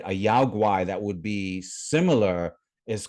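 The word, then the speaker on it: 妖怪: In China, it's pronounced yaoguai, right? But the characters that they are written in are the same characters. It's just that difference in pronunciation.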